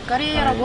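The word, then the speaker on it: Корея: 러시아는 이제 까레이아라고 하는데 역시 까레이. 본 통발음 한 번 더 얘기해 주세요.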